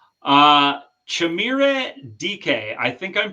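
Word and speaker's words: Chimere Dike: Uh Chamira DK, I think I'm pronouncing that right. How did I do, Scott? Yep. Chamir DK.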